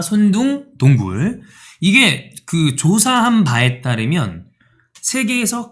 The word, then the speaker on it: 손둥동굴: 손둥동굴, 손손동굴. 근데 손둥동굴입니다. 손둥동굴.